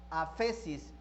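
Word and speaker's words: ἄφεσις: La palabra perdón se traduce de la palabra griega aphesis. Voy a decir aphesis, pero aphesis se escribe con PH, ¿sí?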